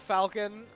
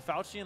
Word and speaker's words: Falchion: Because the Falcon actually is effective versus Dragon's. Is that pronounced? Yeah. So is the Falchion, like, the wrong way to pronounce it? I believe so.